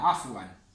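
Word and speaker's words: عفوا: Lo mismo pasa con de nada, afwan. af, wan. Af, wan. Este alif no se pronuncia y esto se leía an.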